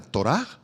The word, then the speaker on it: torá: la palabra ley es la palabra hebrea torah con h al final y acento en la tor han escuchado hablar acerca de la torá bueno esta palabra hebrea